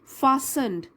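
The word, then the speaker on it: fastened: भी था उसके पास, फासन्ड, टी इसमें साइलेंट है, फासन मतलब बंधा हुआ,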